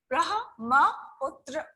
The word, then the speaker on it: Brahmaputra: Brahmaputra. Okay, and it's pronounced as Brahmaputra.